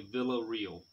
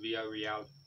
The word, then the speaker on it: Villarreal: We stayed about 2 kilometers away in a little place called, well, in English, if you saw it in English, you would say Villa Real. Here it's pronounced Villarreal.